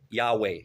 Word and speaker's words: Yahweh: Simply put, Jehovah is a latinization of the Hebrew Yahweh. Yahweh. Yahweh. Not J. I'm sorry. Yahweh. See, it's so hard from English.